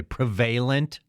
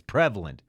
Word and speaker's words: prevalent: He said prevalent correctly, but I just want to note that I hate it when people say prevalent. That's not how you say it. It's prevalent. Good job, Bill.